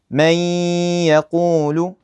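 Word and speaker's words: مَن يَقُولُ: So, I'd say may yaqul. So, notice the noon is basically gone. I just merge it right into the ya.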